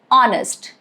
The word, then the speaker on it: honest: Alright, rule number 2 is it is silent at the beginning of words, often when succeeded by letter O. For example, hour or honest.